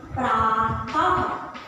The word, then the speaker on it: प्रातः: और विसर्ग के उच्चारण में ह बोला जाता है।